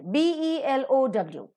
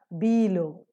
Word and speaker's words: below: at the second word b e l o w it is not below it is below the second syllable is to be stressed below before between beyond